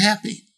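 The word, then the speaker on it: Hapbee: science fiction in the crowdfunding sphere this is happy that's how they say it's supposed to be pronounced yeah supposedly you can choose how you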